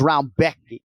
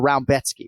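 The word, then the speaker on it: Rebecki: the name of matauge round Becky or rambetsky right it's spelled r-e-b-e-c-k-i so it looks like Rebecca on paper the Polish names historically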